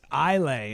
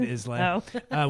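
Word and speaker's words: Islay: So that's Elay is how that's pronounced. Boom. Roasted. Did I say? What is that? You said Isl which is how it's written.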